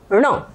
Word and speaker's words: ण: जवान बराबर ऊपर टकरा रही है ढ ण और ण बोलते समय पर जवान ऊपर को टकराएंगे थोड़ा सा नाक लगेगा नासिका तो ये जो ण है इसका उच्चारण स्थान मूर्धा है और साथ में नासिक जन ये मूर्धा के साथ में नासिका है ठीक है और र